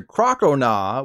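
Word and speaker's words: Crocalor: then it evolved into crocoda which is said like oh hell nah not Croconaw but when it evolved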